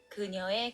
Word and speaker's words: 그녀의: and when it's used as a possession particle, it's pronounced as 에. Eh. 그녀의 가방.